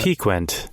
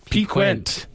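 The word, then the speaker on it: piquant: up I am going to double check the pronunciation of that peent peent oh yeah Q you yeah okay peent peent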